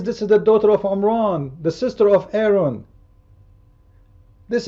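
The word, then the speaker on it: Imran: father of Aaron and instead of saying Oman because he is copying the Jews he do not know how to say it correctly he said Oman here we go this is omran this is amam the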